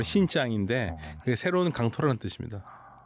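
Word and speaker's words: 新疆: 그래서 신강 우리 한국식 발음은 신강이고 중국말로 신짱인데 그게 새로운 강토라는 뜻입니다.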